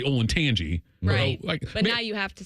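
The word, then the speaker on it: Olentangy: wish it wasn't it's ol and Tangi it's ol and Tangi Berlin but I wish it was a different School playing Berlin because I could just say ol and Tangi but now you have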